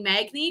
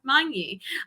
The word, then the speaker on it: Magni: pronounces my name correctly i'm used to saying magni because i just adopted that over the years but it is monkey i i live in